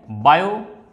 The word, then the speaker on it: Biot: वैसे T silent होता है इसमें, तो बायो सेवर्ट लॉ बोलते हैं इसको।